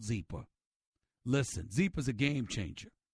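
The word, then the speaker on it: Zyppah: want you to go to zebra calm it's pronounced zebra and it's spelled zy p p8 h you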